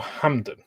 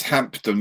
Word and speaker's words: Hampton: Is it Hampton or Hamden? It's Hampton, isn't it? It's Hampton with a P, but it's pronounced without the P because it's British, and we do strange stuff like that. Depends where you come from in the UK. It could be Hamden.